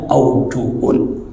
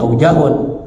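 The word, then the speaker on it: أوجه: kalau beberapa pendapat namanya aujuhun. Ya, di dalam istilah mazhab Syafi'i itu ya bacanya aujuh, wa fihi aujuhun, jangan bacanya aujahun. Ya, itu sering keliru.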